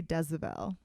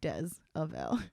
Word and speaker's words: Diezavel: myself to people well i say but if i say my full name i said i say desavelle but i say diezevel on the podcast because it's spelt d-i-e-z-a-v-e-l so it's but i say dezabel you know like des avail oh my god i'm